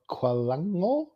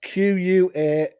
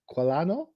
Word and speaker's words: Qualano: definitely. And. And it's Qualano. So Qualano. There you go.